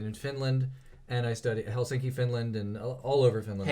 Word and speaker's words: Helsinki: Maybe it's not pronounced like that. Helsinki.